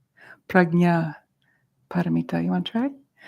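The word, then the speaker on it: Prajnaparamita: to Tran to pronounce it's a little more accurate that's like a g pragnya paramita you want to try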